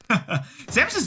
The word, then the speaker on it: Samus: for uh for samus samus i know it's pronounced samus i was being silly but what are those